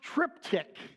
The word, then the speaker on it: triptych: It's pronounced triptych.